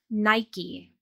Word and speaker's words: Nike: Yes, in English, this brand is pronounced with two syllables, Nike.